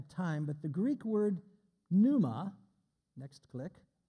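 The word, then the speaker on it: πνεῦμα: but the Greek word Numa next click pronounced with a silent p i put the Greek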